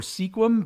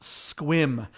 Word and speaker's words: Sequim: people mistake it for sequim but it is pronounced squim uh squim washington is